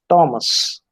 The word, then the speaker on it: Thomas: or mechanics then uh it is thomas it is i mean her is never there it is thomas then